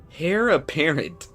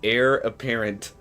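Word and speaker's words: heir apparent: Hair apparent. Air. Okay, it's it's actually pronounced air apparent.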